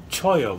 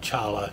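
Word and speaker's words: cholla: This is the Brian Yellow Horse knife featuring the Choya wood, not Chala, Choya. I pronounced it wrong before, and I just wanted to make mention of that. It's actually pronounced Choya. I should have known that. It's a Spanish word.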